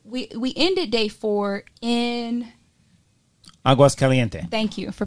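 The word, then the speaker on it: Aguas Calientes: Aguas Caliente. Thank you for pronouncing right, that but before we got to Aguas, there was the train.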